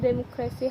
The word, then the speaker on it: democracy: In this family, the noun democracy has stress on the second syllable, but the adjective democratic places stress on the penultimate syllable because I creates a different periodic footing.